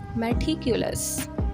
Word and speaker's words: meticulous: इसकी प्रोनाउंसिएशन है मैिक्युलस।